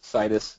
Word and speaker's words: Citus: Before I get to that, I want to tell you it's pronounced like Midas. Heard a lot of variations, so when you go forth, it's Midas, Citus, Citus Data.